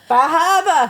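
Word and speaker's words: Bar Harbor: Bahaba. Yes. Yes, we do pronounce it like that.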